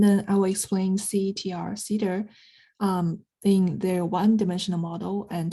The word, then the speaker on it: CETR: So this term can be abbreviated as CETR and pronounced as cedar as in cedarwood.